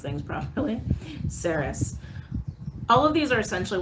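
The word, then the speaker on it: Ceres: asteroid chiron palace athena juno saris that's how you say that sarah's i apologize if i don't pronounce things properly saris all of these are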